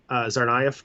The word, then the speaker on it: Tsarnaev: So we're having trouble saying Tsarnaev because it has a silent T at the beginning for no reason.